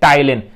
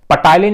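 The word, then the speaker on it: Ptyalin: Second enzyme है amylase enzyme, या इसी को बोलते हैं टाइलिन, पी साइलेंट होता भाई, पटाइलिन नहीं बोलते, ये कहलाता टाइलिन।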